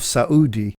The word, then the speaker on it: Saudi: for some time Qatar noted the separated syllable pronunciation of Saud II in common with all